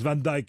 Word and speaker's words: Van Dyck: rsf de tableaux de van dyck qu'on ne prononce van dyke évidemment en angleterre et en particulier il